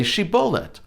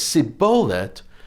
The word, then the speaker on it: shibboleth: no then tell him say shibolet and if he says sibolet he could not pronounce it correctly then they took him